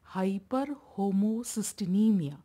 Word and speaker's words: hyperhomocysteinemia: So when there is high levels of homocysteine in the blood, this condition is called as hyperhomocysteinemia. Pronounce it as hyperhomocysteinemia.